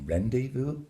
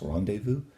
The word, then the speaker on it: rendezvous: In English it would be rendezvous, but it's rendezvous.